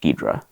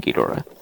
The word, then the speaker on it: Ghidorah: I think it was just Ghidra in the just two syllables, and I could be wrong about that. In the 70s Aurora kit, because the American dubs of the Toho films called him Ghidra, like two syllables.